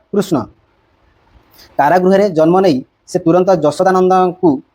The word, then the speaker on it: কৃষ্ণ: কৃষ্ণ নাম দিছি কৃষ্ণ অর্থ আকর্ষ কৃষ্ণ সঠিক উচ্চারণ কৃষ্ণ কারাগ জন্ম নেই সেন্ত যশদানন্দ প্রেরিত হলে কৃষ্ণ